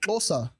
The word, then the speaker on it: Xhosa: For example, Xhosa, right? When you see it written with the X, H-O-S-A, but it has a K sound, right?